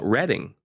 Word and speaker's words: Reading: mind it's the reading Railroad and you've been saying it wrong your entire life no yeah yeah really